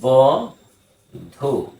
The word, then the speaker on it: বধূ: দেখি যেমন বানানটা হচ্ছে ব ধু এটির উচ্চারণটা আংশিক এরকম উপরে একটা একটু অনুনাসিক মধু বধু বধু ধয়ের সুকার